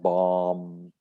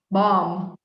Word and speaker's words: bomb: spelling okay next one we dropped the last b bomb yeah there's no b sound bomb bomb there's a lot of